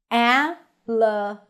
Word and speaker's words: Alabama: Alabama. Primary stress on ba.